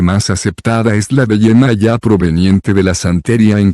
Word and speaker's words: Yemayá: orissa en nigeria semillas se pronuncia con el sonido de hoja en la última sílaba la versión hispana ampliamente más aceptada es la de yemayá proveniente de la santería